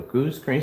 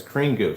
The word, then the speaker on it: Screen Goo: Goose screen, this is 2 years ago. Screen Goo. I'm saying the name wrong. All the time I'm saying goose screen. It's Screen Goo.